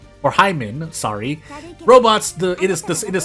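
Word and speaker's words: Heimmann: I mean, with a name like Horst Heinemann, or Hyman, sorry. Robots, it is spelled H-E-I-M-M-A-N-N.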